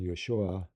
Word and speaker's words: Yeshua: halfway between the two so in Hebrew Jesus his father's name was yosha y yosha Joseph but not Joseph and Jesus would have been Yeshua or B Yeshua B yosha son of